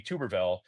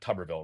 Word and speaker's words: Tuberville: It's Tuberville, not Tubberville, right? Actually, he was on Fox the other day, and Will Kane, in introducing the segment, pronounced his name incorrectly, and I believe he called him Tuberville. I think Tubberville is the correct pronunciation.